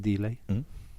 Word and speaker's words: Dele: It's pronounced Dele. Dele Alli.